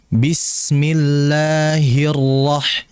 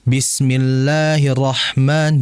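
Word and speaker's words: بسم الله الرحمن: Bismillahirrahmanirrahim nah di situ perhatikan ra ini memiliki sifat yang disebut dengan sifat eh tawasud ya sifat tawasud yaitu tawasud ini mengalir tapi sebentar bismillahirah jadi jangan bismillahirrahman jangan ditahan dulu dengan getarannya bismillahirah hirah bismillahirah Ya ditahan tahan ini aliran ya karena sifat tawasud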